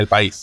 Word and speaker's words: El País: How do I pronounce that? I've never pronounced that. There El you País. go. El País.